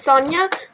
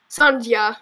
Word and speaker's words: Sonja: I know it's pronounced Sonya, but every time I see it, I think it pronounced Sonja or something.